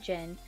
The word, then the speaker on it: Jin: this time Jin, and I know it's probably pronounced several different ways, but I pronounce it Jin.